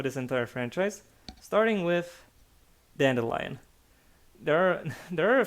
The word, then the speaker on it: Dandelion: uh with an eye i prefer the pronunciation with an i because well it's a combination of dandy you know the uh male styling